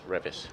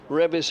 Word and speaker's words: Revis: So Revis. Revis it is. He says it rhymes with Trev. Trev and Rev.